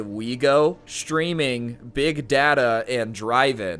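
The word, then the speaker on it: OUIGO: that include the train operator sncf's brand wego pronounced wego along with a straightforward import such as big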